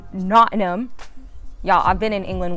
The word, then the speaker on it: Nottingham: So I'm currently in Nottingham, England, locally pronounced Nottingham. Nottingham.